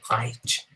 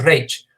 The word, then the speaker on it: Reich: al famoso Tercer Reich, o si nos queremos poner muy puristas con la pronunciación en Alemania, el Tercer Reich.